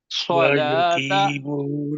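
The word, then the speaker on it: صلِّ: ہے انشاءاللہ، اللہم صلی، اور صلی بھی نہیں پڑھنا، لام کے نیچے زیر ہے، زیر کی آج میں نے پریکٹس کروا دینی تھی، تو اس کو کیا کریں گے؟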